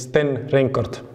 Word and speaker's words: Sten Reinkort: hi pleased to be here my name is Sten rort Sten rort we'll get used to pronouncing that I'm sure H so welcome to